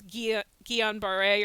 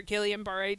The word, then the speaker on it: Guillain-Barré: One thing that some people are more commonly aware of is Guillain-Barré or Guillain-Barré, depending on who you hear pronounce it.